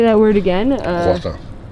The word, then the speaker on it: croissant: Croissant. Say it. Croissant. That is the French way to say it.